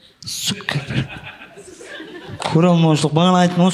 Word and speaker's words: Цукерберг: Миллиардер, Цукерберг десең ғой, цыға ударение берді. Цукерберг.